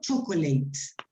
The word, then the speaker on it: chocolate: can you see that in both cases we can see the vowel in between disappears is not catholic or catholic or something like that it's not chocolate these sounds disappear so